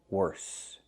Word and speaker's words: worse: Make the S sound. Worse.